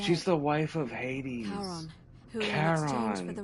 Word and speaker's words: Charon: Your pronunciation is a little off. The name you heard wasn't Karen. It was C-H-A. Oh, the Greek, the wife of Hades. Charon, the ferryman of the dead.